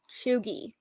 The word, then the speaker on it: cheugy: So it's CHEUGY, Chuggy. It means like, like cheesy or tacky. But Jeff pronounces it chuggy, which is one of my.